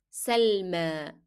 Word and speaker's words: سلمى: Selma. And we pronounce the last year as alif because the preceding letter, which is mim, is carrying fatha.